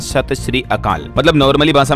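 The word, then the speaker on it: ਸਤਿ ਸ੍ਰੀ ਅਕਾਲ: इसे ऐसे कहते हैं सही उच्चारण होता है सत श्री अकाल तो राजस्थान के सीएम भजनलाल ने सत सत अकाल बोल दिया था इसके जगह पर और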